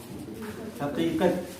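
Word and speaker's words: हक़ीक़त: जैसे एक शब्द है हकीकत। क्या है? हकीकत। तो ये बड़े काफ से आता है, तो इसको क्या बोलते हैं?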